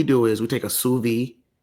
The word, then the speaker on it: sous vide: So what we do is we take a sous vide, right?